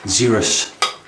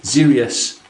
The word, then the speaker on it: Xeryus: The smell of Zerus. What did I say? Zerius.